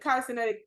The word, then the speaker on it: Cenat: Yes, I pronounced last name wrong. Cenat.